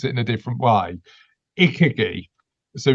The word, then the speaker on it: ikigai: I always pronounce it in a different way. Ikigai.